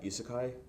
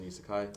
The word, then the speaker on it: isekai: a genre of um of anime called uh isekai have you heard of it no what is it how do you spell it uh i s e k a i